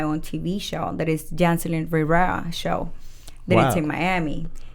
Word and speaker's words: Yancelin Rivera: You're going to have to help me with the pronunciation because you got to roll your tongue a little bit.